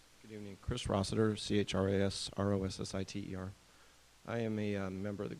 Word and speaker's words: Rossiter: And our last speaker is Chris Rossiter with the, well, I hope I'm pronouncing your last name correctly. Good Good evening. Chris Rossiter, CHRASROSSITER.